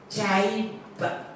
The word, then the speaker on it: Chaibva: Chaibva. Okay, the V is silent.